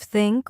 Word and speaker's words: think: Yes, many learners say tink instead of think or dis instead of this, but here's a